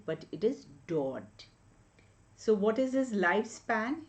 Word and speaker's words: Daudet: So when we pronounce Daudet, it is not Daudet but it is Daudet.